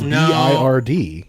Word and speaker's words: Bird: It's bird though, like the swallow, not like that was throwing me off. Is it spelled like Baird though? No, it's BIRD. It's Brad like Bird, as in like the actual animal.